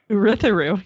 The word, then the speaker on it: Urithiru: Urithiru, yes.